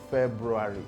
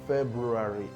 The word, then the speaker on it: February: diction coaches now say the word is not February. It's not February. It's not February. You shouldn't pronounce it as February, but February.